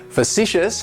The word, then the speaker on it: facetious: Facetious has 3 syllables, and the stress is on that second syllable. It's like you're just saying the letter C, facetious. And that first syllable has that schwa, that sound, facetious.